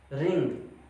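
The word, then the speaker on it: wring: तुरंत बाद R आ जाए तो आपका W साइलेंट हो जाता है। जैसे राइट, राइट मीन लिखना, रॉन्ग, रॉन्ग मतलब गलत। रिंग, रिंग मतलब क्या होता है?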